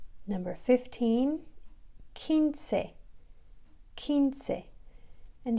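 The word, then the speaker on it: quince: number 15 kinse and do you remember that we talked about how the q and the u are like glued together that they make one sound they're like this the sound like k so kinsey so the q and u are together that sound is together kinsey so let's spell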